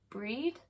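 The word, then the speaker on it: Brighid: my first Brier fest bridgid or breed and Beltane are the marin fall this year again somebody told me that the gh is silent so it would be pronounced like breed or like preheat or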